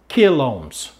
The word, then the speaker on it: kilohms: And when the kilo, we'll just say kilohms. Okay? So technically, you should be pronouncing it that way.